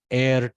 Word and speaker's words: heir: We are supposed to say heir, guys. I always read it in my childhood as heir. No, that H is silent. It is probably a French word.